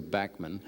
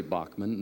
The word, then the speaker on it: Bachman: as Randy Bachman and I was brainwashed to say Backman because I used to say Bachman now what is will you please clear up this mess I've been brainwashed to say I grew up in Canada saying Backman yeah when you know